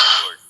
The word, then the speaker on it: were: This is pronounced as वर।